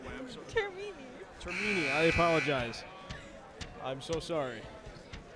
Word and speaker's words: Termini: How do I pronounce it the correct way? I'm sorry. Termini.